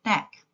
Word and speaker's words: knack: K is a silent letter in the word knack.